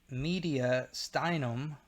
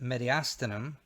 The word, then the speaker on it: mediastinum: Pleural cavities, something called the mediastinum. Some people pronounce it mediastinum, mediastinum or mediastinum.